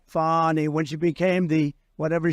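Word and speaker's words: Fani: right has anybody fonnie it's pronounced fny F A ni I that's Fanny but she likes it fny when she became the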